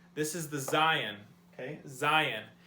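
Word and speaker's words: זין: Zayin. It's pronounced Z, like our English letter Z has a Z noise when you pronounce it.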